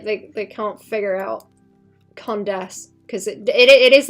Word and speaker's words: Condesce: Her name is the the condes as in like condescension, but people call her the condens as in like condensed milk.